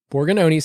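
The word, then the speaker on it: Borgognoni: people anymore so uh so borgononi borgononi's how you say it uh in Italian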